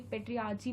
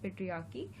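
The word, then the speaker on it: patriarchy: तो देखिए, पेट्रियार्ची भी बहुत लोग उसको प्रोनाउंस करते हैं, बट the correct pronunciation is पेट्रियार्की।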